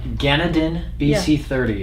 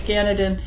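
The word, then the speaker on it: GanedenBC30: yeah uh this product is a spore base pronounce it again it is uh gannadin bc30 yeah that is the trademark name of the spore bio yeah ganondon bc30 i always mispronounce ganadin um this is uh uh one of a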